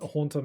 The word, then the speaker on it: Haunter: Um, so I would tend to just like not consider words a lot and I just thought his name was Hunter for some reason. It's Haunter makes more sense.